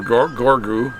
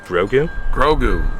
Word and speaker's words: Grogu: The business, Oh, and let's redo our one ad we have, and that's for my daughter, who sells Baby Yodas, or Gorgu, right? Gorgu? Grogu.